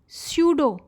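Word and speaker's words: pseudopodia: तो पहले समझ लें ये नाम स्यूडोपोडिया का मतलब क्या है। स्यूडो, पी साइलेंट है, स्यूडो मीन्स फॉल्स, नकली, पोडिया मीन्स फीट।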